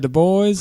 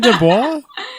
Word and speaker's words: Du Bois: I called him Dubois in another episode, and people got mad. I was gonna say Isn't his name Du Bois? W.E.B. That would be the French pronunciation, but he went by Du Bois.